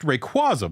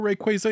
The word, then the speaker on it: Rayquaza: It's said that it's pronounced Rayquaza, but those people are wrong according to official pronunciations.